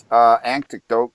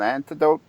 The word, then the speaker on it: anecdote: maybe you can help me out here because I'm not sure if this is an antidote. Antidote. How do you say that word? Anecdote. Anecdote.